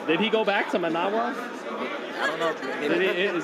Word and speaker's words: Managua: Did he go back to Managua? I don't know. Maybe, Is that how you say it? Managua.